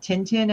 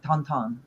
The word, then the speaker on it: Tintin: also like likes tonon it's called Tintin in American or English but he pronounces in French like tonon that's how you say it it's actually I like